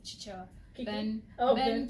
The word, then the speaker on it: Chichewa: In Jijewa. Yeah. Chijewa. Chichewa. Oh yeah. Spelling here. Ben almost grilled me for that. For Who? saying Jijewa instead of Chichewa.